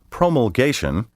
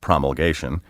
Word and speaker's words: promulgation: has two corresponding nouns promulgation which may also be pronounced promulgation means the act of